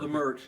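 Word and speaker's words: Leimert: Is that how you pronounce it? Yeah, I produced a concert. I always called it Lemert Park. Lemert. Yeah, that's better, man.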